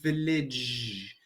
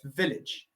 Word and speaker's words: village: only say that um you pronounce the village you accentuate the end so you say village where it's just a quick word it's village perfect so do you